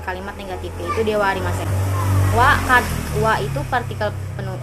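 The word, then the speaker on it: は: Wa itu partikel kalimat ketika ketemu to be, hurufnya H tapi dibacanya wa.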